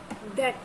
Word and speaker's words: debt: डेट। DEBT बोलने में डेट आता है, लेकिन लिखा डेब्ट जाता है, DEBT, ठीक है। बी साइलेंट है, तो इसे बोला क्या जाता है? डेट, ठीक है।